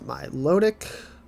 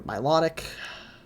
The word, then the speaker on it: Milotic: month so next is my lodic or Milotic however you want to pronounce it um I think